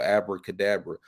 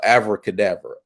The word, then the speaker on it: Abracadabra: speak like the whole Abracadabra which is you know is really afro cadaver it's supposed to be pronounced with a V instead of a b and that's something you